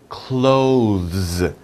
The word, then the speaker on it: clothes: know this word here close close the door that's easy right close the door this is the same pronunciation clothes i am wearing